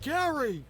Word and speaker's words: Gerry: It's pronounced Gary.